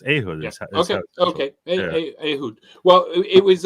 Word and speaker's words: Ehud: something else it's not I speak Hebrew I'll tell you in in Hebrew it's ahood it's not ah a no there is I mean there is